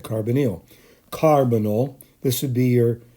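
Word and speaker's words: carbonyl: ways I pronounce it carbonal um carbonal and it seems like the emphasis is supposed to be on the first syllable carbonal so if I mispronounce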